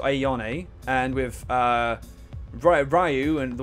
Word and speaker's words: Ayane: So with Ayane, so it's I-A-Yon-A. Okay, so Ayane.